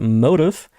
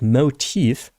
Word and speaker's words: motif: day I learned that it's not motive but motif and I can't get